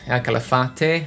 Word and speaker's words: Calafate: just pictures from our caliphate calafate i think that's how you're supposed to pronounce it lago argentino again